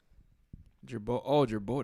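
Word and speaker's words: Girbaud: Jerbo. That's how you say that shit.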